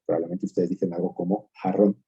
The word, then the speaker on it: jarrón: Es decir, una palabra como por ejemplo, jarrón, mientras que yo lo pronuncio, si me permiten, diciéndolo de una forma más familiar, con una J fuerte, ustedes lo pronuncian con una J mucho más suave, con lo que se llama el alófono aspirado.